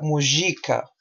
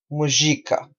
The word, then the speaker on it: Mujica: En portugués sería, no, no, en español Mujica, ¿no? Pero en portugués la pronuncia sería Mujica, Mujica.